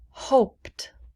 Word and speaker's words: hoped: we say did sounded hoped hoped we do not pronounce the e hope hoped listened listened